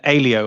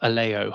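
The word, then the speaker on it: Aleo: And Alio, I've got that right now. Not Alo.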